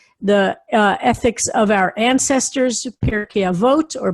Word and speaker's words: Pirkei Avot: It's traditional between the holidays of Passover and Shavuot to study the ethics of our ancestors, Pirkei Avot or Pirkei Avos, as he pronounces it.